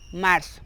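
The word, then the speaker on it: março: Marzo es igual, solo que lleva con C cedila, lo que ya le expliqué anteriormente, que se pronuncia como una S. Marzo, ¿ok?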